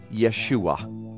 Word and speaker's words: Yeshua: It is pronounced Yeshua.